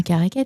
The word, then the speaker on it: Caraquet: Puis elle a été finaliste des concours prestigieux tels que le gala de la chanson de Karaquet. Je sais pas si je prononce bien caraquet. C'est ça. Oui.